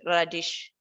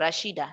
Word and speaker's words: Rashida: marketing communication mix uh tanika and radish i'm pronouncing it properly let me see oh rashida sorry rashida danikan rashida yeah this one belongs